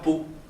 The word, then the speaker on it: Pau: pour aller dans la ville de pau alors peau oui faut avec la paix alors bon comme ça s'écrit pas bay peau et oui alors vous